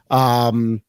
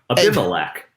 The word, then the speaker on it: Abimelech: It was done by, and I hope I pronounce this name correctly, Embellikic. Now you screwed me up. Abimelech. Abimelech. There we go.